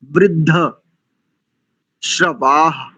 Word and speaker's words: वृद्धश्रवाः: सबसे पहले प्रथम पंक्ति का चतुर्थ शब्द, चौथा शब्द वृद्ध शर्वा, वृद्ध श्रवा ऐसा उच्चारण करते हैं, जबकि वृद्ध वृद्ध श्रवाः ऐसा होना चाहिए, वृद्ध श्रवाः।